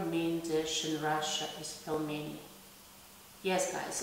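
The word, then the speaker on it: пельмени: So instead of pelmeni, we say pelmeni, pelmeni. So you make this letter L soft by placing the soft letter after the letter L.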